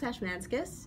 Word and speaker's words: Ashmanskas: Brooks Ashmanskas is going to shuffle along.